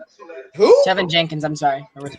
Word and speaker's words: Tevin Jenkins: Tevin Jillians. Who? Tevin Jenkins, I'm sorry. I mispronounced his name.